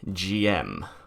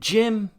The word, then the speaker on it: GM: sue somebody quick aside i have heard two pronunciations for the name of this mech gm and jim and i just had to make the joke i know that the earlier translations they translated it as gm and the newer ones is jim apparently from what i've heard in the lore the gym pronunciation is supposed to be a nickname but in general all the newer stuff just pronounces it as jim and if you don't